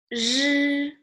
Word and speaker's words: 日: If you have difficulty to pronounce this one, just say sh longer enough, and then choose the end of your, like the end of the sound. Sh, right? If you say sh longer enough, you say sh.